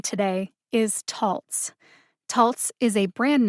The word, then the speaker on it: Taltz: that it is pronounced taltz taltz like waltz but the various youtube videos that i watched used the following three pronunciations tolts the correct pronunciation again is taltz taltz like waltz if